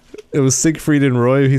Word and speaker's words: Siegfried: It was Siegfried and Roy.